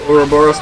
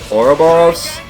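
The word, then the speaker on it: ouroboros: nice little orboros power I swap between orboros and orboros they're I believe both correct pronunciations um but what can you do they normally pronounce it boros I normally pronounce it oroboros um but again they're pretty they're they're a lot of words like that end up being kind of interchangeable a lot of the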